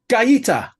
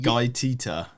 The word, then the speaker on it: Guaita: goalkeeper's name which one gaita yeah they said is how you pronounce it I'm not having anybody